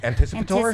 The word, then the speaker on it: anticipatory: And anticipatory. Anticipatory. There's no L.